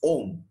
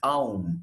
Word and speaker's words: Aum: In Tamil, the prayer mantra goes Om. Am I right? But in Sanskrit, they tell you it is Aum. Am I right? I think we have heard this. Aum is how it is given in Sanskrit.